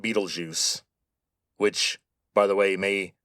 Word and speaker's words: Betelgeuse: By the way, that is how you say that name. Betelgeuse. Now, the spelling is German, but the name comes from Arabic.